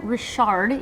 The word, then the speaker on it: Richard: Cameron Rashard, even though it's spelled Richard, from down south.